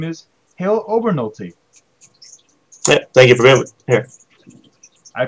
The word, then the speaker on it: Hale Obernolte: his list with us and his name is halo Bernal t take it really here I pronounce it correctly correct yeah that's right yeah